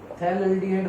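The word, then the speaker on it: phthalaldehyde: थैलाल्डिहाइड बोलेंगे हम इसको, थैलाल्डिहाइड। P साइलेंट है इसमें, थैलाल्डिहाइड।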